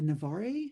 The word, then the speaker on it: Navarre: And he's written extensively on Marguerite de Navarre. Is that how you pronounce it?